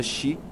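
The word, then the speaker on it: し: um número infeliz pois sua pronúncia chi que também significa morte muitos dos que passam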